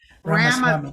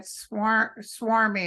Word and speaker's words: Ramaswamy: I couldn't pronounce his name and I said swarmy, and my son said, don't use that on your show.